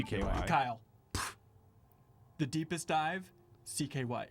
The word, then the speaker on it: CKY: Is it pronounced Sky or do you always just It's say CKY.